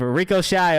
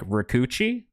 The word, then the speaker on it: Rico Shy: I feel so bad that his label literally reposted a clip of me being like, Rikuchi? It's not Rikuchi. It's Rico Shy.